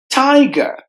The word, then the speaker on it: tiger: term reasons reasons tiger a letter r at the end is silent so there are only two syllables tiger tumultuous tumultuous there are